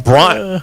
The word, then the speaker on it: Bryant: I'm like, you guys don't pronounce the T.